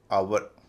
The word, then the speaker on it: HOUR: और HOUR का उच्चारण आवर, आवर, जिसे हम लोग आवर कहते हैं।